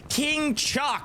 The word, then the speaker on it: King Chuck: a thermite on fedo that is King Chuck and he made it very clear for our North America Friends King Chuck that's how you say his name and if you're saying it any other way he doesn't want it all right I'm looking